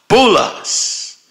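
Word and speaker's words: بولس: Hell called in the Arabic tongue it's pronounced bulas so there is a prison with your name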